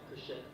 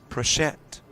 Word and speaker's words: Pritchett: And I love the pronunciation given by our PA announcer to Evan Pritchett. Pritchett. If we were in Louisiana, I would say that's possible.